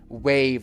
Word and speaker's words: wave: Remember the first sound is w and then v. So it's ww w. You have to make a kiss. WW w and then vv vv a dental sound. So your teeth need to touch your lips.